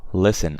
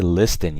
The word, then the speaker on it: listen: we have listen and listen actually has a missing T okay so listen I don't say listing you guys these are